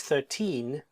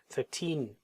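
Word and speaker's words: thirteen: But if he means 13, the stress is on the second syllable and it's longer. 13.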